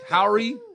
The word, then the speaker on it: Howery: show Miss Tiffany hadish and Mr little r Howry Howry yeah you said it right okay I'm saying